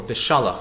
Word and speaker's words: Beshalach: The Parsha's name is Beshalach, or Beshalach, as some people pronounce it.